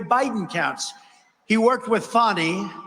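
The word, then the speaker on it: Fani: counts he worked with fonnie even though it's spelled Fanny f a n i fny how about that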